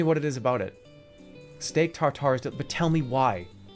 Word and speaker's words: steak tartare: For reference, in French in France it is said as steak tartare. Oh, come on! Therefore, in English, it is generally said as steak tartare.